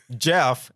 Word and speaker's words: Gef: that a creature named Jeff and it's GF my name Jeff my